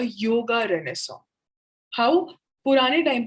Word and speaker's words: Renaissance: Now Renaissance, ये जो word है, this is pronounced as रेनेसांस.